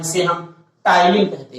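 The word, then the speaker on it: ptyalin: आप बहुत ध्यान से समझिएगा, टाइलिन में पी साइलेंट होता है, ठीक है। तो ये टाइलिन एंजाइम मंड का पाचन हमारी बक्कल कैविटी से ही स्टार्ट कर देता है।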